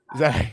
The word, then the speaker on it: Malachi: Malachi.